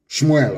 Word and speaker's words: Shmuel: me tell you what samuel said shmuel of course correct pronunciation as your sword has